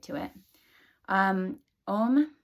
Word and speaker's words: Om: right to it um om is made of three syllables there's a o and um spelled a-u-m as you see it